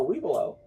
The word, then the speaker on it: Webelo: No, wee below. It's spelled differently. It's not WEBLOW. It's wee below. Like WEBELO.